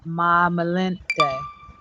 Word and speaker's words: Malinche: Malinche, and also Spanish pronunciation Malinche.